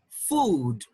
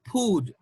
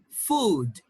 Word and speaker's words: food: is a long so this word is pronounced food and remember it's not food we don't have per it's food food okay and this one